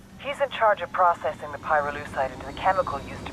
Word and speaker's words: pyrolusite: You know what pyrolusite is, right? Yeah, neither did I. Pyrolusite, key syllable pyro, by the way, is the